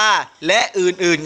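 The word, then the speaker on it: ฯลฯ: ก็ ได้ นะ ครับ วิธี การ อ่าน ให้ ลูก อ่าน วัน ละ หรือ ว่า อ่าน ว่า และ อื่น ๆ ครับ แต่ ลูก เจอ เครื่อง หมาย ไป ยัน ไปยาล ใหญ่ นะ ไป อ่าน วัน ละ หรือ ว่า และ อื่น ๆ ก็ ได้ นะ ครับ เช่น ก็ นึง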